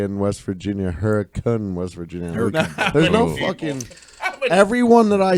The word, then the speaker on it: Hurricane: spelled hurricane hurricane hurricane West Virginia but it's pronounced they say in West Virginia Huracan was rigid everyone that I said how many